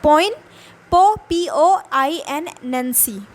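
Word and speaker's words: poignancy: पॉइंट नैंसी पॉइंट नैंसी ऐसे बोलेंगे जी इस साइलेंट ओवर हर सो ये इसको अगर भूलेंगे कैसे प्रोनाउंस करेंगे तो यहां पे ध्यान देना है पी ओ बोलना है पो फिर इन नैंसी अब इसको जल्दी से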